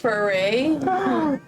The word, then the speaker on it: Fury: It's with one R, so it's Fury. Furry Paw. It's pronounced foray.